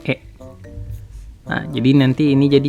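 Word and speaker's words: へ: Ini harus kita kelompokin kata kerja perpindahan ini karena nanti mereka menggunakan partikel yang sama yaitu partikel he atau dibacanya e.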